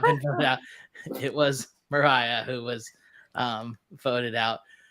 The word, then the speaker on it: Mariah: like every vote was Mariah. Yeah. Which I didn't know how to say her name until yesterday. So same. I thought it was like Maria. I was like, is it another Mariah or Marianne?